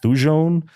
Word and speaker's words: thujone: Absinthe, a green spirit distilled from botanicals, most notably wormwood, which contains, I think it's pronounced thujone, which is a compound with hallucinogenic properties.